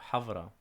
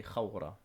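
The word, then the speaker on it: ܚܒܪܐ: in a authentic way, I would have to say hawra, or hawvra, even with a vet. So, havra. But, um, most people that speak Eastern Assyrian, um, they would say khawra.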